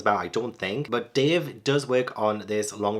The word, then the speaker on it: Dev: how it's spell Dev but the AUD book narrator calls him Dave so is that how you pronounce it so I'm call him Dave but it does say